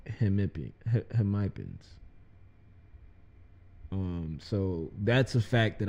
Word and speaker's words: hemipenes: Hemipens. So it's Hemipens. not hemipenis.